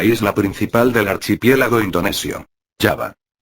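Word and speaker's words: Java: principal del archipiélago indonesio yava yava según la pronunciación sundanese son muchos los estudiosos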